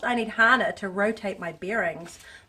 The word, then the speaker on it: Hana: I need Hana, it's pronounced. I need Hana to rotate my bearings.